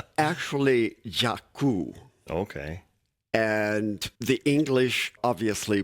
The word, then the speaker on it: Jaku: And Jacko doesn't sound like it's an Indian name. it's actually Jakku.